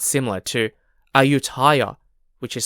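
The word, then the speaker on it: Ayutthaya: from Thailand because ayuta also sounds similar to ayutaya which is spelled a-y-u-t-t-h-a-y-a ayutaya was an ancient Thai Kingdom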